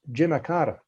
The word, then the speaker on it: Jimmy Carter: Now, speaking of what's in a name, his name is pronounced Jimicata. Now, I say that with no disrespect, but that's how people would have referred to him in Georgia.